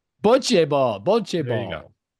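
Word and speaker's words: bocce: I I know I'm mis we're mispronouncing it. Well, how do you say it again? Boche ball.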